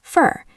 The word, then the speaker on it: for: In isolation, for. In a sentence, fur. This is for you. Not this is for you. This is for you. Fur. It rhymes with fur.